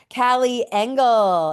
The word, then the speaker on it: Callie Engel: Callie Engel. Is that how you say Woo! You said it right.